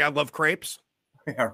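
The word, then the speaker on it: crêpe: my arm if I don't say I love crepes. Yeah, right. Yeah, like is that the correct pronunciation?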